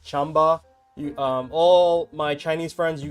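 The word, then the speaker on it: Qanba: It's a lot of US people pronounce it Kwamba, but it's actually not pronounced that way. It's more like Chamba.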